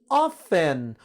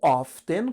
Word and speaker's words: often: Often ou often, curiosidade para vocês, esse T pode ou não ser pronunciado, as duas formas estão corretas.